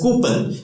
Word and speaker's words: coupon: Because the spelling is C-O-U-P-O-N, we pronounce it as coupon, but actually it is absolutely wrong, and the most mispronounced word, the pronunciation is coupon.